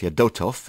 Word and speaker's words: Fedotov: the ambassador Yuri Fedotov off your dough tov I think to pronounce his name correctly join me live hello